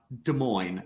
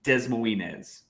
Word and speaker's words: Des Moines: Somebody in the stream wants me to say Des Moines, and it is pronounced Des Moines, not Des Moines.